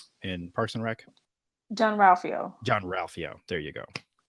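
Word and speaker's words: Jean-Ralphio: Is it Rufio in Parks and Rec? John Ralphio.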